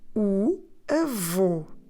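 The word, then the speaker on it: avô: the letter o and that circumflex on the letter O it's there to tell us that we need to close the vowel so we spell it with a v o concert or in English A V O and that o takes a circumflex so we say Evo and now if we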